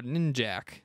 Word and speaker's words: Ninjak: And Ninja K, or Ninjak. I call him Ninjak, but it's spelled Ninja K. It's Ninja K.